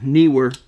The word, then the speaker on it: Neewer: It's spelled Neewer, but basically all they are is Chinese knockoffs of the same thing. But I went with the newer one, Neewer is how you're supposed to pronounce it.